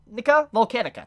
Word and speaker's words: Volcanica: Which, speaking of which, the reason Subaru probably got there is thanks to Volcania, or Volcanica, that's how you say it, Volcanica.